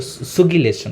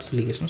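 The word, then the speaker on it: sugillation: you sigation okay or sugilation not suligation sugulation sorry slip of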